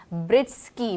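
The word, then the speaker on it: Breetzke: हाँ जी, मैथ्यू, नाम मुझे ठीक से प्रोनाउंस नहीं करना आ रहा अभी तक उनका, ब्रिस्की मेरे ख्याल से, ब्रिस्के कुछ इस तरह करके प्रोनाउंसिएशन है।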